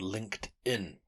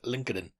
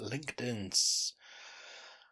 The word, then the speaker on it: LinkedIn: Anyway, deleted them all and then within about 3 days downloaded one called LinkedIn, which I'd always pronounce as Linkadin, but that was just me misreading it cuz I'm a fool.